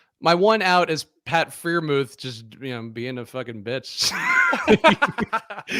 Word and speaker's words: Freiermuth: I don't even know how you pronounce it. Freiermuth? No, there you go. You finally got it.